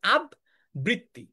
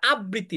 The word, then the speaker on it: আবৃত্তি: অনেকেই এটার উচ্চারণ ভুলভাবে আমরা করি হচ্ছে আবৃত্তি বলি। কি উচ্চারণ করি আমরা? ভুলে ভুলে উচ্চারণ করছে আব বৃত্তি এটা আবৃত্তি না দেখতো তোমার লেখাটা দেখো